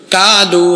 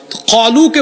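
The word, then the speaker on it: قالوا: কলুকে বলেছে কালু। এখানে আলেম উলামারা বসে আছেন। আরবি 29টা অক্ষরের মধ্যে 7টা অক্ষরের উচ্চারণ হলো মোটা মোটা। সদ, দদ, ত, য, খ, গইন, কফ। এটা কানা, কফ। তাইলে কালু না কলু? কলু।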